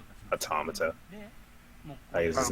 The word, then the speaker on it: automata: it's hard to just take off the end automata is how to present it automata bottom out of here as well girl yeah